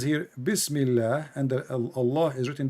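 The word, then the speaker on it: بسم الله: So in the first one in Arabic, it says here Bismillah, and the Allah is written differently.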